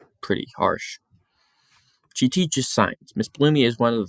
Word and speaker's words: Miss Bloomy: Miss Bloomy. Oh, I was saying it wrong. Miss Bloomy. I said Miss Boomy.